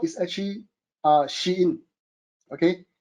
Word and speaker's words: Shein: Shopee, Lazada, and then if you realize number 4 is actually Shein. Okay, it's pronounced Shein.